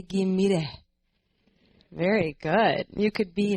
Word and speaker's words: Ghimire: So my name is Ghimire. Everyone say Ghimire.